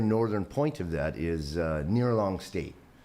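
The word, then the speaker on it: Ngerchelong: The very northern point of that is Nearlong State. Looks nothing like that phonetically. You'll never find it using the pronunciation, but there's some C's and H's and G's and, and some things in there, right?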